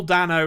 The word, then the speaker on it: Dano: they know if you're if you want to pronounce it incorrectly as anthony does sometimes the day no man he he's just